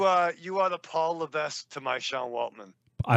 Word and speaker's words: Levesque: H to my ex Paul L that's how you say his name it's a silent s okay I have a